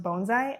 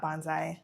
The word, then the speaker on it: bonsai: The first thing I learned is it's pronounced bonesai, not bonsai.